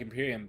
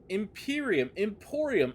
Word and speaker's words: Emporium: Wait, I've been saying it wrong. Emporium. Oh my god, I thought there was two eyes there.